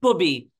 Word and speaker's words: Bubby: It's pronounced Bubby. Bubby. And nobody gets it right. So don't feel bad. Bub. It's a Yiddish, which is, you know, Jewish Yiddish word for grandma.